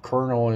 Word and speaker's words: colonel: words I learned when I was was learning silent letters like knife konel is quite uh common common a common word